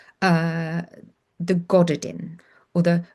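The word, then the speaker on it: Gododdin: reading a translation of a book called the Goddardin or the Gothardin. It's spelled Goddodin.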